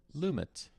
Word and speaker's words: Lumet: director is pronounced English lumit lumit but this guy Sydney lumit this guy has a okay al we'll say lummet so there you go sorry took